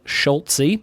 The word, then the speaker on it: Schulze: He says it's pronounced like Schult-Z. In your head, throw a T before the Z, and then pronounce the Z like the letter.